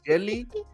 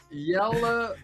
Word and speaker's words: Jelle: And then there's oh my god, I think I'm gonna mispronounce this, but I'm gonna try it. Is it jelly?